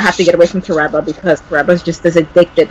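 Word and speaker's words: Toreba: I didn't know that's how you pronounce it, but yeah, Tereba.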